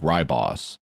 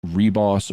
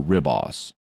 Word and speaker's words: Ribos: and by the way in terms of how to pronounce it based on the spelling with an American accent you would think ryboss but in the show they pronounce it either reboss or ribos um they use both um so even they